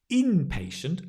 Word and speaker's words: inpatient: inpatient and the outpatient inpatient Accent on the in an inpatient is a